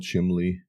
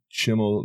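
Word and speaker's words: Chimil: budget, but how about I never pronounce it right. I always say Chimley. Let me find this card. Yeah, I'm trying to remember what that refers to. Chimmel, the Inner Sun.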